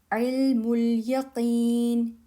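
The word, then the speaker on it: عِلْمَ الْيَقِينِ: Ilmul yaqeen. Yeah, short sound. Ilmul yaqeen. This hamza is silent.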